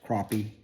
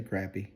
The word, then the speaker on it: crappie: know you guys are going to say it's pronounced crappie but down here where we are we say crappy anyway I got a